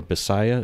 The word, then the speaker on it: Visayan: Like, they actually learn English in school here, but the local language, Tagalog or Bisaya, is how you say it? Yes, or Visayan. Visayan, specifically, sorry.